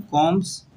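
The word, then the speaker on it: combs: कॉम्स, कंगियाँ बनाने में, कॉम्स, B silent है, कॉम्स, एंड हैंडल, दस्ते जो होते हैं, एंड हैंडल्स ऑफ नाइव्स।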